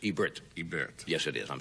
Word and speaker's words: Ebert: we have gene siskel I pronounce Rogers last name wrong it's Ebert right Ebert Ebert I said I said yeah and it's Ebert Ebert yes it is I'm sorry about that